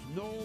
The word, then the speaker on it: Noel: It's pronounced Noel, but it's spelled N-O-E-L.